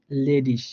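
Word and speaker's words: ledig: হ্যাঁ, এখানে স হয়ে যাবে, যেমন লেডিস।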